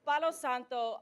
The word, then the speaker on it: Palo Santo: I'm the only one that could say it right. Palo Santo, it's Spanish and it translates into holy wood.